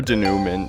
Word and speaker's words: denouement: But if we are going to agree on something, I vote for De Noo Moon because that's my personal favorite pronunciation.